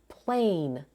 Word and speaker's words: plane: The final e is silent and the vowel spells its name plane.